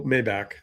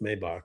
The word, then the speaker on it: Maybach: technically two Maybach although Mayback I refuse to call it Mayback because it's pronounced Maybach but okay Maybback and